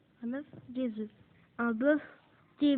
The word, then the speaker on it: bœuf: Il arrive que la consonne finale prononcée dans le nom au singulier ne soit pas prononcée au pluriel. Exemple, un œuf, des œufs. Un œuf, des œufs. Un bœuf, des bœufs.